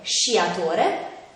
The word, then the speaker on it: sciatore: quello formato dalle lettere quando queste due lettere sono seguite dalle vocali e e si pronunciava come si esce quindi avrà un suono dolce come nelle parole sciatore scena e fish quando invece